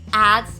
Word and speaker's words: adds: but for the sound D and S is combined together and making the sound z z so it as